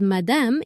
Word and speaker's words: madame: The word madame is like saying ma'am in English, and you use it when you want to be polite in a shop.